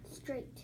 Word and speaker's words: straight: sound right did it now that is a really tough word because that one has some silent letters in it so sounding those out